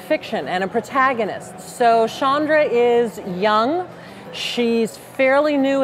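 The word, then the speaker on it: Chandra: all I would say her name is pronounced Shandra oh sorry woohoo you've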